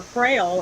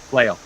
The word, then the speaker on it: flail: Well, he swings a frail, or whatever that's called. How do you pronounce it again? Flail.